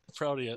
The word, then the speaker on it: Proteus: Wait, I said Proteus.